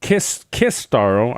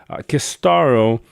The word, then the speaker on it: Kistaro: Sistar is he is kind of like, from my experience, Kistaro. I gotta remind myself to say his name properly. Kistaro.